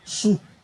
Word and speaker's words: Shu: El Señor en esta ocasión estaba por humillar a un Dios que se llamaba el Dios Su. En inglés se pronunciaría el Dios Shu, porque tiene se escribe S-H-U.